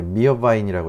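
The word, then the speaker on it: Meerwein: 이게 미어바인이라고 읽으시면 되는데요.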